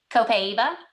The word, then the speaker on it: Copaiba: Copaiba? Copaiba.